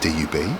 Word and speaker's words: C-Dub: C, and then I'd spell, instead of W, I'd spell it D-U-B, but it's still pronounced dub, which is obviously, it